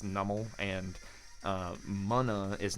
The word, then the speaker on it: Numel: We got Spiritomb, Reverse Numel, or Nummel. I think it's pronounced Nummel. I think Pokemon Company came forward and was like, hey guys, it's Nummel, and Munna is not Munna, is Munna.